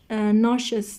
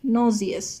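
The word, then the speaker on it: nausea: این واژه بچه ناشس تلفظ میشه در امریکن، یه بریتیش نازیس تلفظ میشه.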